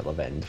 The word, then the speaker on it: Levande: Is that how it's pronounced? Yeah, Levande.